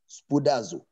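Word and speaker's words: σπουδάζω: study was translated from the greek words buddhazoo is spelled as a-s-p-o-u-d-a-z-o spudaso it implies to be eager in other words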